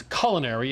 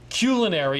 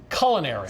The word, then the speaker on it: culinary: American usage 98 Edition the preferred way to pronounce culinary is in fact culinary because the word is based on a Latin word culinarias SS to the kitchen or culina kitchen or food culinary is the proper pronunciation the Fig Leaf is